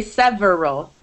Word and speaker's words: several: of naturally disappears several you don't say several it comes out several you don't say different